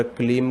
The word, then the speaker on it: क्लीं: ऐसा नहीं है कि आप 2 बीज मंत्र तो एम, जैसे कि एम ह्रीम पढ़ रहे हो और क्लीम को क्लींग पढ़ रहे हो, ऐसा नहीं।